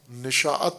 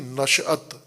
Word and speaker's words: نشأت: پانا، نشأت حاصل کرنا، جیسے اردو میں تلفظ کیا جاتا ہے نشاءت، نشاءت نہیں نشأت، نشأت ثانیہ لفظ سنا